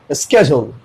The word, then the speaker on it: schedule: ठीक है, डी का साउंड नहीं आ रहा है इसमें। ठीक है, आमतौर पे यू जो है ना वो जे में बदल जाता है प्रोनाउंसिएशन के लैंग्वेज में। ठीक है, इसलिए ये हो गया स्केड्यूल।